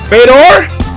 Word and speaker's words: Fedor: beauty yay wow yeah Fedor like Vader Minnie how do you